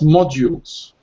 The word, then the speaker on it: module: as well thank you this word we pronounce modules module yeah so we have model it's built but differently model and then we have modal then a and this is module yeah so additional modules